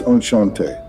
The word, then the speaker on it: enchanté: It's enchanté. The T is silent. Enchanté.